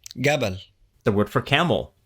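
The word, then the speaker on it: جبل: J or for example the word for mountain jab is pronounced gab the word for Camel jaml is pronounced gaml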